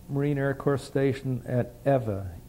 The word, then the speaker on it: Ewa: Well, we went over to the Marine Air Corps Station at Ewa, E-W-A, pronounced Ewa, and waiting to be assigned to some kind of a squadron.